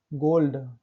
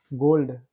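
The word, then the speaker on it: gold: Exception, अपवाद है। गोल्ड, डी के पहले एल आया है फिर भी हम इसको पढ़ रहे हैं ना। गोल्ड, डी कहाँ, एल कहाँ, वहां पर हमको साइलेंट पर नहीं है, हमको पढ़ना है एल।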